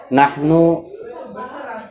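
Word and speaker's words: نحن: yang terakhir adalah nahnu nahnu terdiri dari huruf nun ha dan Nun dibacanya Nahwu nahnu artinya adalah eh kami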